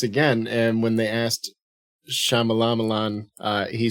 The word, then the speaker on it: Shyamalan: Exactly how it's spelled, man. Get it together. Shyamalan. Yeah, well, there's a Y in there. You can't read. Shyamalan. Wow. It's Shyamalan.